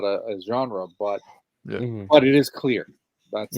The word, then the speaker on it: genre: How do you pronounce it? Genre. Genre. With the R.